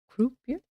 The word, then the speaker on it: croupier: Croupier? Ooh, I'll have to check the pronunciation. I'll have to check it very quick. How do you say this? Oh, so no pronunciation today? So it's croupier. Croupier. Okay.